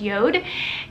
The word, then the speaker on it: JORD: Facebook and it is the company called company Yoda it's Jo are deep it's pronounced Yoda and the ads are just stunning like they